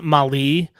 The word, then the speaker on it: Mahle: Baseball Reference has the pronunciation as Mali, but I was watching highlights of him earlier, and everyone was saying Mally.